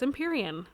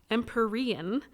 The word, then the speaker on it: Empyrean: And I actually looked at it too, and I thought, oh, it's Empyrean, like imperial, right? And it's similar, but I looked it up, and it says, oh no, correct pronunciation is Empyrean.